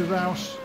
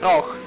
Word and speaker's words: Rauch: How do you pronounce that? I've been pronouncing it differently to you. Rauch. Rauch. Yeah, Rauch. It's a German kind of fruit juice. Oh, okay. Or an Austrian fruit juice, which belongs to the Red Bull company.